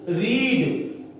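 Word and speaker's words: read: तो इफ he didn't रीड, अब spelling वही है लेकिन ये V1 है। देखिए ऊपर में जो था ये रेड है, इसको रेड पढ़ते हैं, V2 है, लेकिन ये रीड है, V1 है।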